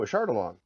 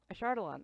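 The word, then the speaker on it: Ashardalon: al o n o a shard along a shard alone oh okay sure sure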